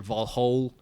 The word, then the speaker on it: Valhalla: die and go to valhalla or valhol how they say in the movie which is like the more accurate pronunciation um and so he